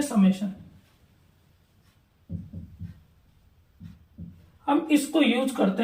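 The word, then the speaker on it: summation: अब कई बच्चे इसमें कंफ्यूज रहते हैं कि हम इसको भी क्या बोल देते हैं, सिग्मा बोल देते हैं, लेकिन अगर इसका सही प्रोनाउंसिएशन आपको पता है तो इसको हम पढ़ते हैं समेशन।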